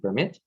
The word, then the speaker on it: permit: So in the first case, the stress is on the first syllable. In the second case, the stress is on the second syllable.